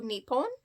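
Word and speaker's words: Nippon: Um the other name for Japan is also Nepon or Nihon. Um, apparently both pronunciations, if I'm doing it correctly, are correct.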